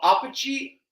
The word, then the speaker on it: apogee: there we go and now we move on to the oh my God I can never pronounce this word right no apogee apogee a-p-o-g-e-e a poach Apache of disaster what is it